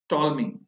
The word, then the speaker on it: Ptolemy: The earliest recorded model for planetary motions proposed by टॉलमी। बच्चों इसका जो नाम है स्पेलिंग है PTOLEMY, जिसमें P साइलेंट है, टॉलमी।